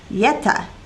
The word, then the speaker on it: Jetta: golf the jetta however the j doesn't exist in the italian alphabet so jetta is pronounced yeta which means misfortune next the hong kong